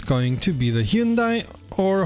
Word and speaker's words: Hyundai: This time it's going to be the Hyundai, or Hyundai as I've been told it's pronounced in Korean, and if not, please correct me in the comments, native speakers only.